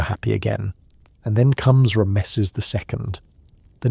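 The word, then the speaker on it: Ramesses: And when you say his name aloud, it's not Ramezes. It's more like thunder clearing its throat. Rameses the Great.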